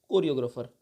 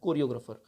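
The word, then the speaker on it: choreographer: ठीक है, ये भी CH से स्टार्ट हो रहा है, हम लोग हिंदी प्रोनाउंसिएशन को से कर रहे हैं, तो इसे आप ऐसे वर्ड्स को आप विशेष तौर पे याद रखें, कोरियोग्राफर इसे बोला जाता है।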